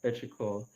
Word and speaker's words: Petrichor: I was struggling with the right pronunciation, so I needed to hear you say it. Yeah, Petrichor.